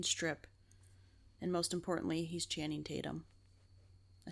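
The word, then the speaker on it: Channing Tatum: dance he can strip and most importantly he's chanting Tatum I said it right this time you did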